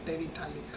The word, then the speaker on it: terephthalic: pH is silent, it's called terephthalic acid.